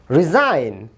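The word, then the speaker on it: resign: রিজাইন, জি এর উচ্চারণ হচ্ছে না।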